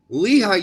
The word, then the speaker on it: Lehi: Yeah, because when I go on about pronunciations is because it's important. Lehi, Utah.